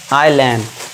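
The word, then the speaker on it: island: यदि आई के बाद एस हो तो वहां पे एस हमारा साइलेंट होगा। आई के बाद एस आ गया तो उसे क्या पढ़ेंगे हम? आइलैंड। ठीक है? यहां पे एस साइलेंट है।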